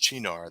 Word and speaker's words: Shinar: And it still has the name Shinar. It's pronounced Chinar there.